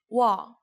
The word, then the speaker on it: 와: U and A together make 와. U, A, 와.